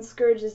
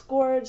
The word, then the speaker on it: Scourge: some people say it's scorge some people say it's Scourge but honestly I think Scourge sounds better so uh yeah so